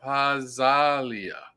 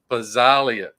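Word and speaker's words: Pazzaglia: Everybody is getting Lorenzo Pazzalia. I gotta get that right because I always want to pronounce the G. Pazzalia.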